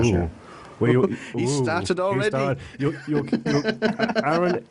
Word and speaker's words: Aaron: No, tell me, are you on the American pronunciation of Aaron or the European one? Are you an Aaron or an Aaron? I'm an Aaron.